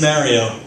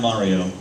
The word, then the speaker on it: Mario: correctly by the way it is Mario not Mario it's a stupid thing